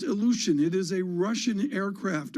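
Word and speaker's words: Ilyushin: I believe it's pronounced illusion.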